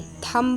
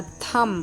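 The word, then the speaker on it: thumb: देखिए टी एच यू एम बी थंब नहीं होता थम सी एल आई एम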